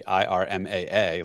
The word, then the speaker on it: IRMAA: especially since the way I'd have to spell it would be IRMAA, like the Medicare acronym Irma.